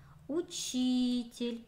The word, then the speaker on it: учитель: Учитель. Ударение падает на И.